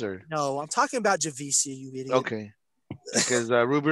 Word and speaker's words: Javicia: if it's Javicia or Javika. Leslie. I think it's Javicia from the way Kimmel pronounced it. So it's Javicia Leslie. Yeah. Javicia, yeah. So, and she didn't correct him, so I'm assuming it's Javicia.